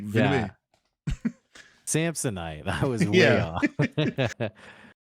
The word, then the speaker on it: Villeneuve: Okay, I actually heard the way this name was pronounced. It's like Denis Villeneuve. It's not how you think. Oh, dang. It's like two syllables, even though the name is like Villeneuve or whatever. It's like Villeneuve.